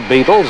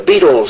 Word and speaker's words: Beatles: The Beatles sound like insect life, but it's spelled B-E-A-T, beat.